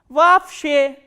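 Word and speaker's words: вообще: And you have to remember, whenever two o sounds come together or two letters o come together in a word, this double o will be pronounced as a single a, a.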